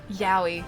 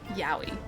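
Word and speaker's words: Yowie: Okay, so it's spelled like this. It's spelled uh Yahi like that. Y O W I E. Yahi.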